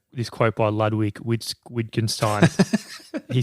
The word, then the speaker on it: Wittgenstein: quote by ludwig which wittgenstein he said the limits of so i think the w is like a v pronunciation that's all right it's